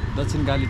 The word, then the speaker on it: Dakshinkali: Dakshinkali Temple. Dakshinkali Temple, okay.